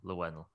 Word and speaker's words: Llewellyn: like with Q is very close to Desmond Llewellyn. That's how you say it. Llewellyn? Yeah, I could never pronounce his surname.